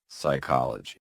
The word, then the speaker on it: psychology: Psychology, psychology, psychology.